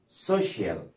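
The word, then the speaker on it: social: عندنا بعد كده سي اي اي ال، سي اي اي ال بتتنطقهم شول او شيل، شول او ايه او شيل، زي كلمه سبيشال، سبيشال، او كلمه سوشيال، يا اما سبيشال او سوشيال.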